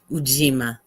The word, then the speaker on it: Ujima: Ujima.